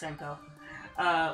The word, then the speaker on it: Senko: Oh, it is pronounced Senko.